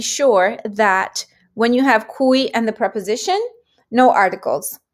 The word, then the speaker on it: cui: Cui. Cui is the other big one. Cui, not with the Q, but with the C. It's pronounced cui.